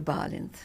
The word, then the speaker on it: Balint: And where can people find you, Balint? Yes, by the way, you're pronouncing my name perfectly.